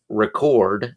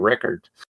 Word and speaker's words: record: There are some words like record and record that mean two completely different things when used as a noun versus a verb, of course. And on top of that, we use different stress patterns when we say them out loud.